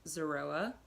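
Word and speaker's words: זרוע: lamb shank bone or in Hebrew it is pronounced Zorua and it represents the sacrifice of the Lamb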